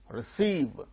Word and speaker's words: receive: Receive, second syllable gains stress.